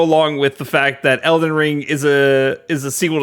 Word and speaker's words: Elden Ring: these games mixed up Elden ring you said it right you got it right you didn't say Elder ring I was gonna say